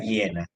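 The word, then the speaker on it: Jena: es muy importante que es llena se pronuncian llena es una ciudad alemana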